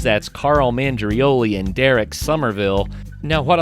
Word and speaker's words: Somerville: That's Carl Mandrioli and Derek Somerville. Now, what I like best about Derek thus far is that the last syllable of his last name and the last syllable of my last name match up.